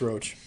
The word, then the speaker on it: Roach: roach um yeah it's roach it's not Jack alesker that's the important part the only reason why I know it's roach is because Nick roach who is um uh Transformers writer that's the same spelled the same way so well interesting that